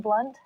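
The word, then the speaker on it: Blundht: he is a monster you spelled my name wrong it's BL n DHT silent h what are you doing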